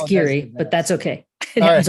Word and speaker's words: Giere: What is Greer Associates? I'm probably destroying your last name. Okay, well, it's Geary, but that's okay.